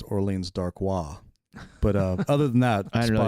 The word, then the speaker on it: Orleans Darkwa: I think the actual pronunciation is Orleans Darkwa.